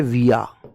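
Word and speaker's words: we're: और वी के साथ जब आर आता है मेरे भाई तो इसे बोलते हैं विया।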